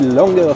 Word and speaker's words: Langer: Je suis avec Florian Langer, prononcez Langer s'il vous plaît, le patron, fondateur, directeur de Fish Explorer.